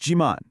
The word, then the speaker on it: 지만: And here it is, your magic word, chiman. It's pronounced jiman.